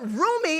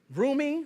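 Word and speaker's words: Rumi: so Beyonce always knows what she doing so roomie am I saying it right roomie Roy don't y'all get mad Carter is officially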